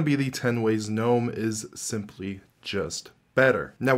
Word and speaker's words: GNOME: on the pronunciation of GNOME or GNOME. GNOME is the technical pronunciation, but they've also officially said that they do not care if you say GNOME. In other words, it really doesn't matter.